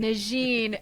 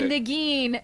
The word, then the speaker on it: Negin: And he goes for the French pronunciation of my name, Negin, but it's actually Negin.